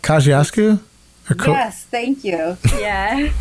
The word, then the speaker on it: Kosciuszko: problems we're in right now but i can't pronounce that bridge in brooklyn that connects queens that the bqe runs over it's like kosciuszko yes thank you yeah not the pulaski but